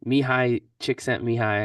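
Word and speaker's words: Csikszentmihalyi: I always put like don't know how to pronounce his name mihai chick sent me high I think is like how you say it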